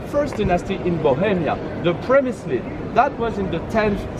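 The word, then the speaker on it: Přemyslids: Because Przemyslids is writing P-R-E at the beginning. The Czech way of saying R is R. So like in Spanish or in Italian.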